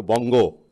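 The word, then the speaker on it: বঙ্গ: So Vanga, which was a secondary, would now subsume or would enlarge its identity, Vanga, into Bongo, as a Bengalis pronounce it, Bangla, Bongo.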